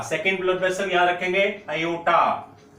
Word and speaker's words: aorta: अब left ventricle से ये blood finally आयोटा, second blood vessel याद रखेंगे, आयोटा, AORTA, आर भी है लेकिन आर साइलेंट रहता है तो बोलेंगे क्या, आयोटा।